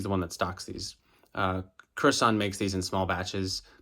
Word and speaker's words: Kurasan: In the video, I pronounced it Kurosan, which is wrong, so I want to correct that. Kurasan. His full name is Kazuo Kurahashi, so it's Kurasan.